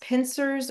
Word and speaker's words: pincers: It doesn't have a CH, but it can be pronounced pincers or pinchers with a ch.